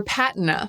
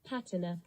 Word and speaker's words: patina: As for PATina, it can be pronounced either way. PATina.